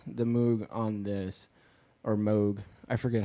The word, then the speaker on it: Moog: they used the Moog on this, or Moog. I forget how it's pronounced. It's Moog.